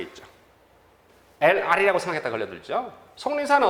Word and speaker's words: 속리산: 속리산은 어떤 발음이 나니까? 속리산. 표준 발음법에 따라 쓰니까요. 그래서 SONG, 송리산 이런 이렇게 쓰죠.